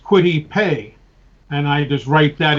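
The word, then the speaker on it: Kwity Paye: think about it so it you know it's pronounced quit IPE and I just write that in phonetically as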